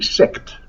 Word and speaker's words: sect: then you start a sect and you have to be very careful to pronounce that T we used plural sex okay so then you